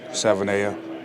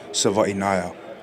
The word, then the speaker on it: Savaiinaea: Not really crazy, but I guess they get it from the first four letters, which is Savaiinaea. That's like the most common one I heard. So, but it's actually pronounced Savaiinaea.